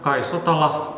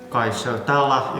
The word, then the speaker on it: Kaj Sotala: I'm Kaj Sotala, or Kaj Sotala if you want to pronounce it in English.